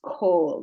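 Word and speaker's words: כָּל: Kaf, a, lamed, but this is pronounced kol. There's an exception here with this kamatz.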